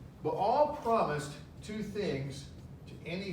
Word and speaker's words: Baal: And the sound, the vowel sound comes underneath this letter, Baal. Baal promised two things to any who would worship him.